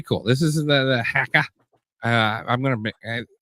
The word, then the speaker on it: haka: this is the the hacka uh I'm gonna the new zealanders pronounce it like hacka like a hacker the challenge of the